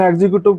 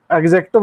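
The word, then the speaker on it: executive: ठीक है, चाहे इसे एग्जीक्यूटिव बोल दो, लेकिन एग्जीक्यूटिव प्रोनाउंसिएशन सही नहीं है, एग्जेक्टिव होता है सही।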